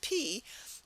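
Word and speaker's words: Pi: Because the English word P kind of makes us laugh a little bit, but that's how you pronounce it, P.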